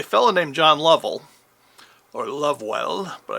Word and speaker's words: Lovewell: named john lovell or lovewell but i believe he pronounced it level um he formed a